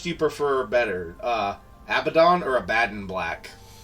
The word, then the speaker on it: Abaddon: bothers you to michelle the first pronunciation jesus guys thank you first one's the right one abaddon or is this kind